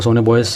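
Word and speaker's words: sonobuoys: एक डिवाइस होता है उसको हम लोग बोलते हैं कि सोनो बॉयज। ठीक है? एक डिवाइस यूज करती है उसका नाम जैसे कि सोनो उसका स्पेलिंग सोनो बॉयज है। ओके? उसको सोनो बॉयज प्रोनाउंस करते हैं।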